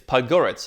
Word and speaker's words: Podgorica: Montenegro right what's the capital she's like it's pug oritse and they're like oh okay like okay Podgorica